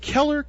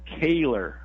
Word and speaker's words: Kehler: Is it Keller? Am I pronouncing that right? It's actually Kehler.